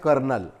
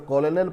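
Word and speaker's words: colonel: तो ये वर्ड जो है, जिसको अगर हम गलत तरीके से पढ़ेंगे तो कॉलोनल पढ़ेंगे, लेकिन इसे कॉलोनल नहीं पढ़ा जाता, कर्नल पढ़ा जाता है, और फौजी के एक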